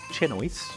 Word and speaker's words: chinois: So, using a chinois, which is like pronounced chinois, it's just a fine mesh strainer that's in every restaurant.